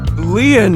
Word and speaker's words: Lien: My name, Lien, is spelled L-I-E-N.